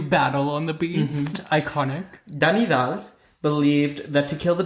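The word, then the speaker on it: Denneval: Danival, that's how you say it, Danival, and Duhamel differed greatly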